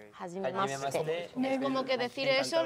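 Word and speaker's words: はじめまして: ¿Cómo se pronuncia? Hajimemashite.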